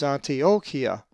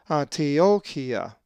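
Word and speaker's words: Ἀντιόχεια: A Greek word that has the epsilon iota diphthong is Antiochia, which is the name Antioch and is number 490. The accent is over the omicron, Antiochia.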